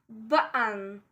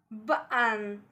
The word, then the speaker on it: button: Number 2 is button, button. Again, between two vowels.